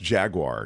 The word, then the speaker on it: Jaguar: Pronounced Jaguar, he's saying.